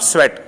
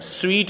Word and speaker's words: sweat: The streams of स्वेट, स्वीट नहीं है ये लफ्ज, स्वेट है, स्वेट का मतलब होता है पसीना, ठीक है, स्वीट होता है मीठा, उसके स्पेलिंग है SWEET स्वीट, और ये है SWEAT स्वेट, ये स्वेटर से निकला है।